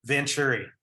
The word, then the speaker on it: Vanchure: How do you pronounce his last name? Forgive me. Vanchure.